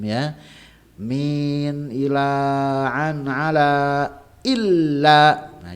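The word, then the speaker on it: إلا: Nah, jangan ketukar antara ila dengan illa ya. Asyhadu alla ilaha illallah. Ila salah ya. Asyhadu an alla ya. Asyhadu alla ilaha illallah ya, bukan asyhadu alla ilaha illallah, bukan, tapi illallah ya.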